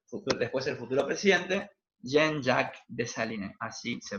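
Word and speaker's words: Jean-Jacques Dessalines: va a ser futuro después del futuro presidente jean jacques dessalines así se pronuncia fíjense todo lo que fue una guerra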